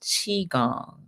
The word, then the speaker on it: qigong: Yes, and she said that it is pronounced Qigong.